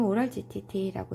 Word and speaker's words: OGTT: OGTT 대문자로 쓰는데 읽을 때는 오랄 GTT라고 읽습니다.